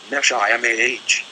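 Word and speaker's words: נשמה: It is the neshama, pronounced neshimah, the higher self, the superconscious mind.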